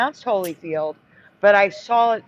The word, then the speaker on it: Holyfield: Holyfield. But again, never pronounced Holly. Always Holyfield.